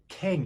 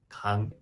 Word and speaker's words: 강: 그러면 미국 사람들이 처음 봤을 때 캥 이렇게 발음하는데 여러분들이 설명만 하면 as in father. It sounds like father. 강 이렇게 발음할 수 있을 거예요.